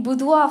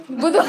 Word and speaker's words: boudoir: So boudoir is like a Frenchish word.